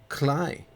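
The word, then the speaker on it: Klei: By the creators, Cly, Rhymes with Play.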